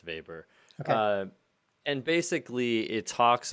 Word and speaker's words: Weber: and it's it pronounced uh i think it's pronounced vapor uh and basically it talks about the protestant